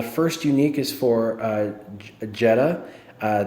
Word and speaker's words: Jedha: unique is for uh jedha uh the H is silent I learned that from